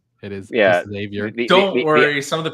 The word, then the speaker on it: Xavier: Xavier again. It's not Professor X. It is Xavier.